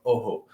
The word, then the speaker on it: Ojo: So check out Ojo, which is O-J-O. That's how you spell it. Ojo, also Oho.